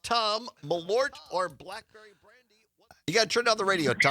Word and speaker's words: Malort: I had never heard of Malort. I I told Parker during the break it sounds like a medieval woman saying Malort. Malort.